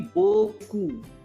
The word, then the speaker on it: beaucoup: EAU is Bo, and COUP is Ku. P is silent. So altogether the pronunciation would be Boku.